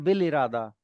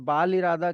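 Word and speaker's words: بالإرادة: लिखा अलिफ के साथ जाता है। बे के बाद अलिफ है। लेकिन अलिफ साइलेंट है और अलिफ की जगह पे ज़ेर की साउंड है। तो वो बाल आखिर और बाल इरादा की जगह बिल आखिर बिल इरादा कि बिल इरादा इज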